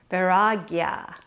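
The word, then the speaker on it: वैराग्य: day 16 letting go varagya that's how you say it in sanskrit so you're going to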